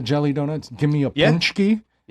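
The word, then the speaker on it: pączki: Mind you guys, when you see these in the store, it's spelled P A C K Z I, but it's pronounced punchki.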